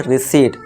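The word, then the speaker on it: receipt: इसे हम क्या करेंगे, फिर से पी को साइलेंट कर देंगे, तो इसे हम पढ़ेंगे रिसीट।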